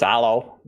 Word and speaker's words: Halo: I think the H is silent. It's allo.